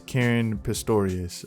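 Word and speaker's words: Caren Pistorius: movie and also there's karen pistorius i believe is the correct way to pronounce her name who plays rachel in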